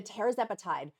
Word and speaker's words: tirzepatide: Look at the tirzepatide, retatrutide, REG review.